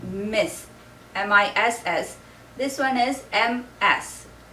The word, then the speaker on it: Ms.: This one is M-S. It's pronounced with more of like a Z sound, Ms.